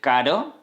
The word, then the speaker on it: carro: Then we would have on the one hand, for example, "caro" (expensive). As you can see I said "caro". And with R. We have "carro" (tray, car), for example. Then "caro" "carro", "caro" "carro".